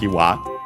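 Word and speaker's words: 岩: Ishi accent on the last syllable, by the way, just like Iwa, also accent on the last syllable.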